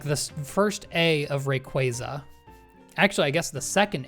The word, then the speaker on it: Rayquaza: Okay, first A is because it's an ay. Second A does not have two Z's. If there were two Z's, then it would be rayquaza.